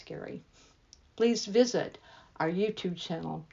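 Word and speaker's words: Gerry: and all things Cruise g e r r y pronounce Gary please visit our YouTube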